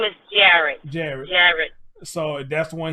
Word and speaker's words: Jarrod: His name is Jarrod.